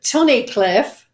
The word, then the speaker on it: Tunnicliffe: I couldn't pronounce your last name, so I'm going to let you pronounce it for me. It's Tunnicliffe.